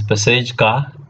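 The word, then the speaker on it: Pacejka: Then we have Fiala model, then Peseka, it's pronounced Peseka, Peseka, sometimes Pesejka, like this, 89 or 94, 94 model.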